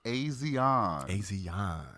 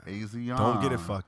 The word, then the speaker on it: Asiahn: to the stage is Asiahn. Asiahn. Don't get it fucked up. Don't get it fucked up. Do not. Because let me tell you, every interview that I read, you will see how it's pronounced.